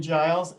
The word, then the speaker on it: Giles: is mayor um i pronounce my last name giles and thanks for inviting